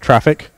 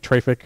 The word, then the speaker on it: Traefik: to modify the network traffic as it goes through now this it is pronounced traffic though i sometimes find myself saying it traffic or something but the official pronunciation is traffic and the things you